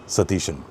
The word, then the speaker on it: Satheesan: But coming back to the main point go for vadesheri dhamodaran satishan for once.